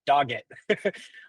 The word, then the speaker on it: Doggett: Chris Doit. Am I pronouncing that right? I should have asked you that before. Dogget.